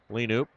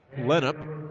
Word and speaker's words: Lenup: And they're going to get Lenoop. Second time I've done that tonight. It's Lenup is the correct pronunciation.